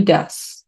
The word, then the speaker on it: does: Recuerda la pronunciación, dudas. Tengo dudas, es do, does.